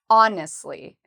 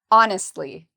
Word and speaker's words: honestly: Well, we pronounce honestly by putting the stress on the first syllable. Honestly. Honestly.